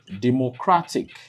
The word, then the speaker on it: democratic: So if a word ends with the suffix IC, then the main or primary stress, falls on penultimate syllable, and what's that? That's second to the last syllable.